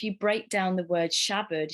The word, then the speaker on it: Shabad: And if you break down the word Shabad, Sha actually refers to the ego, and the bud, it's spelt bad, but it's pronounced bud, means to cut through.